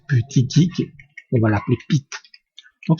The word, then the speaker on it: Buttigieg: C'est comme ça que ça se prononce, Buttigieg.